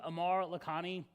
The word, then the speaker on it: Amar Lakhani: My name is Amar Lakhani.